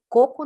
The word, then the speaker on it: coco: ó, cipó, cocô, mas coco não é. Porque esse coco aqui é uma paroxítona, certo? Então, ó, a sílaba mais forte não é a última, é a penúltima, tá bom?